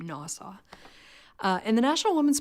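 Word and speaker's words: NAWSA: Woman Suffrage Association and which people usually pronounce as an acronym NASA uh and the national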